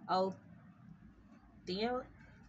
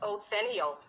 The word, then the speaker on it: Othniel: I believe it's Othniel. Oh, so I was saying it right in my head. Othniel, son of Niel. Yes, ma'am. I think it was pronounced who just pronounced it, said it correctly.